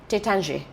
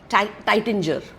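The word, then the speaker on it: Taittinger: from the house of टेचांजे okay तर आपण आता इंग्लिश वाचलं तर आपण म्हणू टायटंजर पुष्कळ इंडियन म्हणल टायटंजर बिकॉज द हा स्पेलिंग पण मी चानंजे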